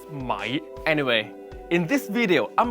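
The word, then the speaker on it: 米: Let me teach you how rice is pronounced in Mandarin. Mi. In Cantonese, it's mai.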